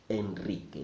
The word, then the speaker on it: Enrique: there is an exception a single are after the letter n also sounds Enrique that is an exception so you can again